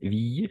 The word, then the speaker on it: ville: au début V oui pas V ville non c'est une exception si une exception oui on va prononcer fille très bien LEtr ou n'est pas dés comme ça et il très bien comme famille aussi comme fille il très bien mais ville c'est l'exception ville très bien mais